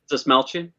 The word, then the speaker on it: Dastmalchian: Dastmalchian? Yeah. Yeah, that's how you pronounce it.